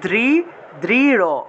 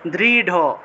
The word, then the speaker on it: দৃঢ়: তা দেখুন, দৃঢ়, বাংলায় বললে দৃঢ়, কিন্তু সংস্কৃত উচ্চারণ করতে হবে দৃঢ়, দৃঢ়।